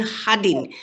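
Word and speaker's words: সাদিন: And Sadin, yeah, we in Assamese it's Sadin. Sadins mean Hadin. We pronounce all, not all. Some sa is the ha. So that's why exact meaning is Hadin.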